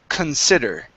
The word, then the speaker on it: consider: stress falls on sid so the c-o-n is pronounced con consider all right so it depends on where that